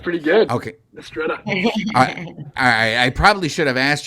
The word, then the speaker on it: Mistretta: Mistretta. I probably should have asked you that first before I butchered your name, but I'm glad that I did it correctly.